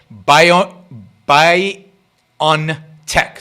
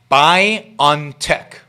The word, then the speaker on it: BioNTech: by a german company by a company called bio by on tech that's how you pronounce the name b i o n t e c k c h buy on tech biontech a company was founded in mainz in